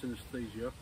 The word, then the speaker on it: synesthesia: I was diagnosed with also a sensory condition called synesthesia. Some people call it, also pronounce it as synesthesia.